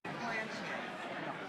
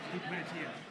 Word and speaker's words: Duplantier: I've always pronounced your name Plantier. What is it? Duplantier. Plantier. Plantier, okay. A little more. Plantier. A little more French man.